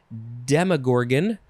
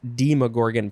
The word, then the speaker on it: Demogorgon: this is related probably it's pronounced demogorgon probably because it's related to demon which is going to be the last word in this episode should have had a